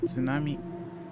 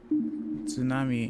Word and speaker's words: tsunami: the first time because even if you look at the word tsunami, you don't think to really pronounce it as tsunami as a native English speaker. You think of it more like sue with like a hard T somehow.